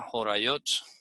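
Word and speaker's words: הוריות: Talmud que se llama Jorayot. Jorayot significa eso como orientaciones, ¿no? Como instrucciones. Como cuando tienes una receta y vas a seguir unos pasos, entonces se pronuncia Jorayot. Jorayot. Y en el Talmud inclusive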